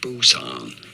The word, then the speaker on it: Busan: Busan. Oh my Busan. Very straightforward. See, somebody commented, no, it's more like Poo-san. You pronounce it like Bosan.